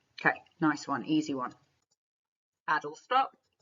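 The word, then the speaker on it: Adlestrop: nice one easy one adult stop which I was calling idle stop and then I realized I was saying it wrong so we've got four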